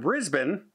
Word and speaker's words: Brisbane: I said it correct, Brisbane, for all the emails when I said Brisbane. But if you look at the way it's spelt, boy, it sure looks like it should be said Brisbane, doesn't it? If you don't know, and I'm not from there, so I didn't know, but it's Brisbane there.